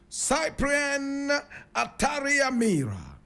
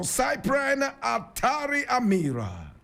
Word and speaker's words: Cyprien Ntaryamira: His name, Cyprien Ntaryamira. And some people will say Cyprien. Others will say Cyprien. Cyprien or Cyprien Ntaryamira.